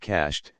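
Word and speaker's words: cached: where the gold is cashed one one pronounced cashed and means hidden purposely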